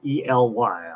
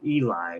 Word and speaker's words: Ely: It's spelled E-L-Y. I always thought it was Eli, but they say Ely.